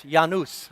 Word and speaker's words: Janus: Yeah, here in the South we say Janus. God Janus, Janus. I looked up the correct pronunciation. Janus, from the Latin.